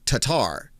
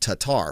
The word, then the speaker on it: Tattar: trying to figure out how to put the emphasis on the last part of her, or the first part of her last name. So the T-A. And a lot of us were saying Tatar. That's how we were saying it, Tatar, for years.